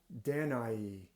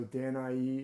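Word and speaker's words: Danaë: pronounce it different ways it does have these two dots over the E so sometimes that means that e is pronounced as a separate vowel from the a so danai is one way that it's pronounced but the beautiful danai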